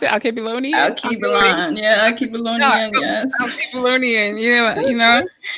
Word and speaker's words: Alkebulan: How do you pronounce it? Alkebulan?